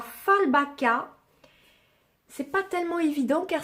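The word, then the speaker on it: Fjällbacka: Ça se prononce Fallbacka, je crois.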